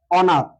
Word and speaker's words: অনাথ: অথা যেমন অনাথ অনাথ অনাথ শব্দটাকে কি আমরা কখনো শুনেছি অনাথ বলা হয় না তাহলে এটার সূত্রটা কেমন ছিল এখানে অ আছে তার পরবর্তী বর্ণটির সাথে আকার যুক্ত আছে এজন্য অবিকৃত অবস্থায় বসবে অর্থাৎ উচ্চার হবে অনাথ অনাথ অটা হচ্ছে মুক্তা